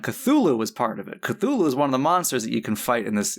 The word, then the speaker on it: Cthulhu: And then I learned that not only is Cthulhu not necessarily the right pronunciation, wasn't even the original spelling and also HP Lovecraft who was an enormous racist side. I'm like he he's not a good person. Um uh he pronounced it kulu.